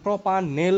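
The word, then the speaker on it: propanal: সাথে এল উচ্চারণ হবে, তাহলে প্রোপানেল, কিন্তু নট নল।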